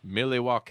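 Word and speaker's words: Milwaukee: you people up there living in Mille walk' as they do / to me that's how we pronounce it you know in st. Louis and there's a lot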